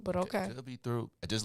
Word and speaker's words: Throop: How do you pronounce that? THRO. And Troop. Why do the newscasters call it Throop? Have you ever heard a newscaster say, on Throop Street? I'm like, I thought it was Troop, but okay.